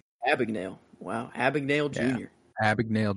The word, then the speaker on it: Abagnale: Jordan Belfort and Frank how do you pronounce that? Abagnale? Abagnale.